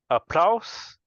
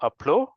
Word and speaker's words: applause: not activity is activities Applause not appla is have the z sound Applause in eligible is